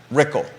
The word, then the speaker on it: Rickel: candidates and Malik versus Brad rickel rhymes with pickle Malik versus rickle fundraising